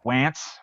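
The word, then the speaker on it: Wantz: of a team yeah except it's spelled as if you would say it is wants w-a-n-t-z he's pronounces it wants it's andrew wants and how annoying is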